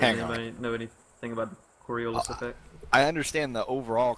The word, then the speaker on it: Coriolis: Coriolis is how it's pronounced.